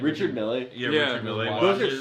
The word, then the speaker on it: Richard Mille: Yeah, actually, Chomsky I'm has like a closet full of like those Richard Mille. What is it? How do you pronounce his name? Richard Mille.